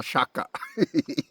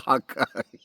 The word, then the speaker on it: shaka: Now I say it right. Right. Double shaka. It's not double haka.